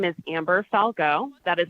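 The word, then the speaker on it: Falgout: members of the committee my name is Amber Falco that is spelled a-m-b-e-r-f-a-l-g-o-u-t and I am the Northern Nevada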